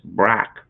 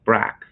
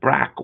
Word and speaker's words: Barack: within the chat mike f says uh canadians mispronounced obama's first name as brac it's brac isn't it again i i i've never heard